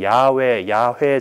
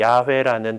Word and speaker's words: 야훼: 뭐 다르긴 하지만은 이제 야훼 정도로 발음되는 그 하느님의 이름이 성경 안에서 이렇게 나와요. 근데 하느님 이름을 함부로 부를 수가 없잖아. 그래서 이제 이 쭉 나가다가 이 야훼라는 단어가 나오면은 거기다가 이